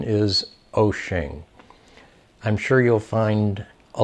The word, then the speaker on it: Wouxun: the website at wo u xu NUS the pronunciation is ocean I'm sure you'll find a lot of different